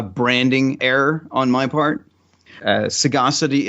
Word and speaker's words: Sagacity: Sagacity is a rare word, so like no one uses that word. And so most people called it Saga City, as if it was two different words.